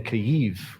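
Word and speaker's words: Kyiv: ukraine and specifically in caiv which i learned is the ukrainian pronunciation and we're all going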